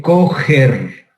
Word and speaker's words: Kocher: Se conoce con el nombre de Kocher. Se escribe, pero se dice coger.